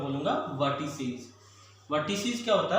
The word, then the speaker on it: vertices: इसका प्रोनाउंसिएशन होता है वर्टिसीज।